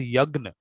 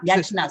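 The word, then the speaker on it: yajña: into the pronunciation, because we actually pronounce it yagna. Oh, yagna. Oh, sorry, not yajna. Sorry. Oh, it's no, a silent. It's a silent. No, in the sense, actually, these pronunciations, because they're difficult, everyone can't get the yagna part, so it became easier.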